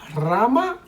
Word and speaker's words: rama: ¿Rama o rama? Y la respuesta correcta es rama. Okay, the R at the beginning of the word is always strong.